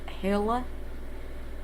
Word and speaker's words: Helle: uh anyway um if her name is apparently pronounced hilla uh helicrafts is who this is about um